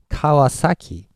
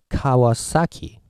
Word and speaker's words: Kawasaki: this one for example so how do you pronounce this as in English so let's say volume or intensity okay pitch I believe you would go kawasaki so you always put accent on each syllables right so Kawa sake